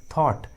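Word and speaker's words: thought: H silent होता है, जी और एच का उच्चारण नहीं करते। फॉर एग्जाम्पल थॉट, ट्रॉट, देखिए इंग्लिश वर्ड्स में जी और एच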